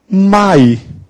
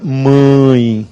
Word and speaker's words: mãe: oral Vejam Só eh Quando eu digo por exemplo eh essa daqui mãe eu não coloquei o tio então a pronúncia fica Mai não é isto aqui eu pronuncio pau agora eu coloco tiu o som fica mãe nasal aqui pão nasal